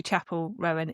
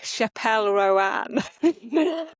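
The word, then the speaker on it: Chappell Roan: so we know who Chapel Rowan is. My partner keeps calling her Chappelle Rowan. deliberately or because he doesn't know pronouncing it and I'm like you're making her name fancier than it is.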